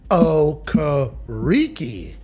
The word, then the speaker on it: Okereke: Okereke.